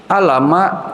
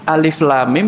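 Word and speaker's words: الم: Amma Ini mulainya apa Alama loh kok Alama Alif Lam Mim dibaca Alama Waduh jadi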